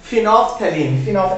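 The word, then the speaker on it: phenolphthalein: फिनोल्फ्थेलीन। एल हमारे लिए यहाँ साइलेंट है, फिनोल्फ्थेलीन बोलते हैं इसको।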